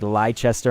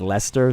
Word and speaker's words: Leicester: probably like you know how they have like lychester and it's Leicester so it's probably like